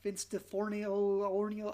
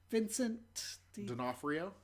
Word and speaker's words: Vincent D'Onofrio: It's live action because I can't know Vince DiFornio. I don't know how to pronounce his name. He was the bug in Men in Black. Vincent D'Onofrio.